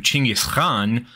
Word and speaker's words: Chinggis Khan: And by the way, I am reliably informed the actual Mongolian pronunciation is closer to Chinggis Khan, but I am going to stick to Genghis Khan, simply for reasons of recognizability.